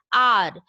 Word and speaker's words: hour: An R. Though H is not a vowel, it is a consonant, but it remains silent here. So we pronounce with a vowel sound R, not however we will say.